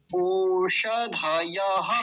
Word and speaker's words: ओषधयः: न औषधयः, ऐसे बोलेंगे क्या? नहीं बोलेंगे, वो गलत शैली है, अ का उच्चारण आता ही नहीं है इसका, तो क्या बोलेंगे? न औषधयः, ओष, ओष, मूर्धन्य शकार। ओषधयः पच्यन्ताम, पच्य, पच, पच,